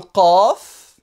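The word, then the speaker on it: ق: Le Qaf, qui est une sorte de Q, Qa, d'accord, qui est également une lettre emphatique, qui s'écrit comme le Fa pratiquement, mais avec 2 points là-haut. Qa, qu, qi, qa.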